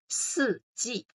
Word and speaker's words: 四季: So you can either read it by yourself or you can listen to how I pronounce that and then repeat after me by yourself. 四季.